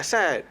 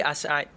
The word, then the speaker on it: As'ad: So Yes, Asad actually. Yes. Oh, bukan Asad. It's actually Asad.